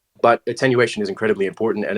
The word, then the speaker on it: attenuation: like the was it attenuation, or I'm saying it wrong, I think. Attenuation. Thank you. Like attention, basically, but right. Attenuation, like putting attention to that object.